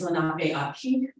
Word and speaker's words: Lenape Aki: There are two that are spoken today, one being Lenami, that's where Lenape Hoki pronunciation comes from Muncie for my people, is Lenape Aki.